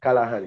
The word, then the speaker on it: Callaghan: Pronounce it Callaghan, yeah.